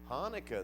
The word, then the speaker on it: Hanukkah: word that they pronounced Hanukkah Hanukkah it's got a guttural sound at the beginning we pronounce it in by one take a shot at it Chanukah that's exactly right it